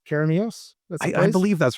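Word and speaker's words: Keremeos: And you're going to, David, I want you to correct me on my pronunciation here if I'm wrong. Near Karamios. Am I saying Karamios? I believe that's right. Karamios, yeah.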